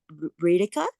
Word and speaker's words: Reetika: But I do have a question is it pronounced Reetika? Yes.